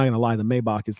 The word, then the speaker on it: Maybach: example how many rappers you hear talk about a mayback the hell is a mayback it's not even how you pronounce the name of the car you own the car can't even pronounce the goddamn name of it it's low class ladies